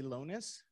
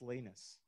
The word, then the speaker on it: Lanus: Now, I was going to say Lonis. It's Lanus. Not anything like it's spelled, just so you know.